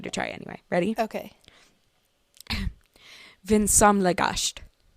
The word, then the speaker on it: vinsamlegast: Vinsamlegast. Gunsamlegast. Vinsamlegast. Vinsomlegast.